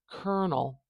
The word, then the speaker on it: colonel: a little short today kernel kernel now doesn't that make much more sense to transcribe it sound by sound instead of this funny spelling there must be some